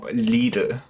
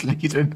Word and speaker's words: Lidl: This is Kong Strong, the wild power from Lidl.